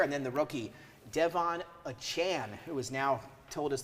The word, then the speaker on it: Achane: And then the rookie, Devon Achane, who has now told us this morning that's how he wants it pronounced.